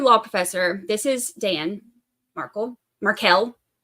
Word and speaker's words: Markel: professor this is Dan Markle marel like I said I'm gonna say it wrong because I got so used to saying marle for so long before I actually heard anything I was just reading um